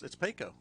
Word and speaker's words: Payco: I think you pronounced that Payco. It's Payco.